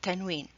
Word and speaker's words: tanween: It's not noon at the end, it's tanween. So what's tanween? Tanween, you add n sound at the end of the word without writing noon.